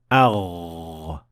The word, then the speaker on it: غ: It is rather produced by vibrating your vocal cords, which is something that you can feel when you touch your throat with your hand when pronouncing the Ghain. Agh, agh.